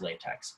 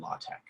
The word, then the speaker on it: LaTeX: to debate you and tell you that it's pronounced LaTeX. But I think if you go on Wikipedia, there are both pronunciations are there. But I believe the original founders wanted it to be called LaTeX.